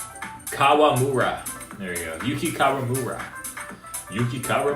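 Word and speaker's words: Kawamura: Yuki is the Yuki Yuramara. Is that how you say it? I keep pronouncing his last name.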